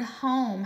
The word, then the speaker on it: home: And also the word home has our sneaky E, our silent E that we don't hear. So home is spelled H-O-M-E.